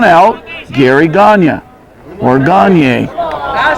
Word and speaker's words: Gagnon: We weren't Gagnons until later did we Americanize the pronunciation of our name, Gagnon, but we were always the French pronunciation, Gagne or Gagne.